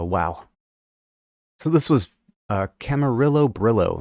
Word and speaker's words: Camarillo Brillo: so this was a Camarillo Brillo that's how I'm pronouncing it because that's how Frank pronounced it but pretty sure it's pronounced Camarillo Brio uh a nice like